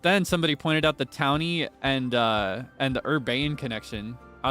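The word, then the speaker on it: Taunie: So they'd probably pronounce the name like Tawny. So then she was Tawny. But then somebody pointed out the Townie and the Urbane connection.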